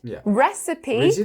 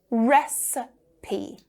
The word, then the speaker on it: recipe: Recipe three, we stress the first one and the second is awah. Recipe recipe.